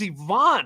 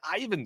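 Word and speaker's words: Iván: Grimley and like hey it is Ivonne right like why are they saying it Ivan still he's not some he's not the Russian fighter in Rocky for Ivon Herrera say his name properly that drives me bonkers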